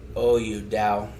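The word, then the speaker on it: Daou: people are Peter Dow, or how do you say it? No! D-A-O-U, Dow.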